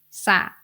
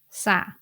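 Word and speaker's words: สระ: should be pronounced as sa do you remember the exception of the cluster when the S consonant Follow by R cluster the ra is silent so you need to pronounce this word as sa this word means pool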